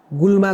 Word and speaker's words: गोलमा: स्पष्ट गर्न चाहन्छु भन्छु गुलमा चाहिँ एउटा विकृति हो। यसको सहि उच्चारण चाहिँ गोलमा हो। जी ओ एल एम ए गोलमा अनि यो शब्दलाई हामी हेर्छौ भने गोलमासँग मिल्ने शब्दहरु थुप्रै छन्।